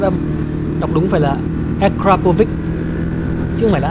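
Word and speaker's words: Akrapovič: Đọc đúng phải là Akrapovic, chứ không phải là Akapovic.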